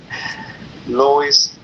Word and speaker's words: Luis: ¿El nombre es Luis o Lois? ¿Cómo se pronuncia? Lois.